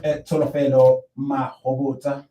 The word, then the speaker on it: Tsholofelo Mahobotsha: Yeah, we will be continuing with Tsholofelo Mahobotsha. Yes. You pronounced it perfectly well.